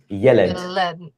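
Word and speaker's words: יֶלֶד: And remember, when there are two air vowels in a row, um it is likely that the emphasis falls on the second last syllable. Right. So in this case, it's yelled.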